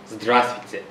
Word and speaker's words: Здравствуйте: Okay, so if you do not know them, if you want to be formal, you say Здравствуйте.